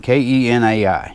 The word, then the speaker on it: Kenai: I pronounce it Kenai. K-E-N-A-I.